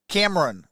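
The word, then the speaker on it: Camerun: can run camera Cam Cameron like Cameron but it's spelled like cam it's spelled c-a-m-e-r-u-n peoples I think will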